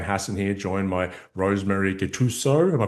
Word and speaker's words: Gattuso: Ryan Hassan here, joined by Rosemary Gattuso. Am I pronouncing that correctly, Rosemary?